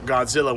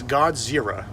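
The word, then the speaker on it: ゴジラ: english speakers to to call a japanese monster godzilla when they know darn well that they can't pronounce that it's godzira kazira anyways so yeah so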